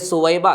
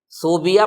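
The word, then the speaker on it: ثویبہ: میں نام ہے حضرت سویبہ کا۔ صوبیہ پڑھتے ہیں بہت سے لوگ، غلط ہے، تلفظ ہے سویبہ۔ یہ دراصل ابو لہب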